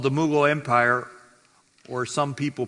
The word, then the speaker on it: Mughal: a new period of Muslim rule called the Mughal Empire, or some people pronounce it Mughal Empire.